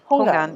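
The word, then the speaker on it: houngan: that you guys went to is it pronounced Hongan? Hogan? Hungan, yeah, Hongan.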